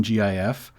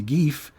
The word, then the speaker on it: gif: all in agreement that the letter i in gif doesn't make the vowel sound e as in beach right it doesn't make that long i sound the evidence is just